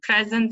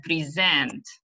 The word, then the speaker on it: present: are aware of like present and present right when the it's now and so distressed is on the first syllable and when it is verb it's on the last syllable right a record record